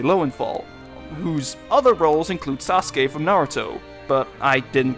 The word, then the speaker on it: Sasuke: But what's worse is that even following the vowels, I still didn't pronounce it right, since the last syllable in his name should be K rather than Ki.